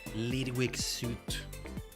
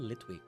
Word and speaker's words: Litwick: Lidwig suit. Sounds kind of nasty when you say it like that. Lidwig suit. Almost like saying licking suit. I don't know why I'm thinking that. But it's called Litwick.